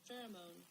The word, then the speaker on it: pheromone: Pheromone.